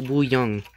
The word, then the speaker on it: Wuyang: This is pronounced Wuyang, and I typed it into Google Translate, which